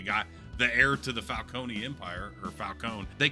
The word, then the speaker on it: Falcone: I would just say Falcone because that's how it's spelled, and it's like Corleone, you know, like the Godfather.